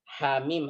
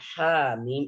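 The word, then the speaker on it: حم: Hamim. Itu cara bacanya. Nah, kalau antum lihat di hamim dalam tulisan dalam Al-Quran, yaitu pada kotak yang ketiga. Nah, lihat di situ. Itu nggak ada harokatnya. Makanya terkadang orang membacanya panjang.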